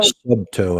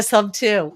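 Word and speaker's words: Subto: off but yeah I was call sub toe I I realized I I was completely mispronouncing that yeah sub too well it stands for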